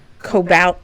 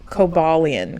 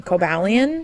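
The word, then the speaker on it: Cobalion: don't want to hear it this Pokemon is Cobalt cobalian cobalian you don't even know lion spell it for me c-o-b-a-l-i-o-n the Iron Will Pokemon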